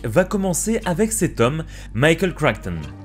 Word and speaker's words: Michael Crichton: L'histoire de Jurassic Park va commencer avec cet homme, Michael Crichton. Oui, je le prononce à l'américaine avec mon super accent.